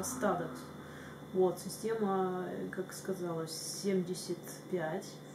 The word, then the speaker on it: Studex: Это не Studex, как у нас в России всегда читалось, произносилось, а Stadex.